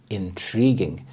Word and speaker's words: intriguing: you could say intriguing intriguing the stress is on the second syllable intriguing this is to